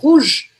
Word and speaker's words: rouge: Não vou falar esse E no final. Última coisa que eu pronuncio é o G.